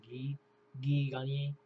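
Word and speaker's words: Guy Gagné: noticed how Guy, it's spelled Guy, but it's pronounced Guy Gagne.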